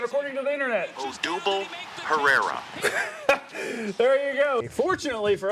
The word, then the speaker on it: Odubel Herrera: Pronunciation according to the internet. Odubel Herrera.